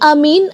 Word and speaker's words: aamiin: keterangan annawawi mengatakan bahwa dalam bacaan Amin ada dua cara baca dipanjangkan dan dipendekkan yang dipanjangkan lebih dan keduanya huruf mim tidak ditasdid Syar Sahih Muslim Ada